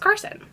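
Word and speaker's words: Karsyn: normal girl name but it's spelled weird it's spelled k a r s y n but I think it's pronounced Carson she doesn't sneer at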